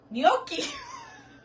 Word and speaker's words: gnocchi: n u c h c c h i gnocchi that's what it is like euro gnocchi okay